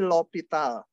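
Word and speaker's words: L'Hôpital: Bacanya tapi aturan L'Hopital.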